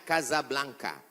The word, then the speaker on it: Casablanca: Hasan dua di Kota Kasablanka ibukota Maroko tempat saya kuliah nama negaranya Maroko ibukotanya tulisannya Casablanca cara bacanya Kadzab langka Kaza artinya rumah Blanca